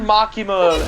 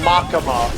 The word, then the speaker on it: Makima: They're pronouncing Makima as Makama.